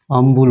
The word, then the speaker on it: humble: ठीक है, ये पुराने ग्रामर के अनुसार इसका उच्चारण क्या होता है? अम्बुल होता है।